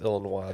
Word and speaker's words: Illinois: Yeah, he's actually grew up It's pronounced Illinois, though.